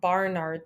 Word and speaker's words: Barnard: at a star called barnard star that's not a typo i'm not mispronouncing it it is named for a guy barnard and this is one